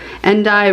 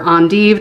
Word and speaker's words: endive: We have some endive or endive, depending on where you're from and how you like to pronounce things.